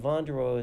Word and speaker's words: Vonderau: So, it's my last name is it's with a C and Vandereo is spelled V O N D E R A U.